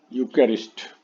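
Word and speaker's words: Eucharist: और आज के वीडियो का लास्ट वर्ड हम लोग देख लेते हैं, दैट इज यूकैरिस्ट। यूकैरिस्ट इसका उच्चारण भी लिख लीजिए, यूकैरिस्ट।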